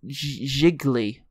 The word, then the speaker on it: Gigli: Gigli, it rhymes with really.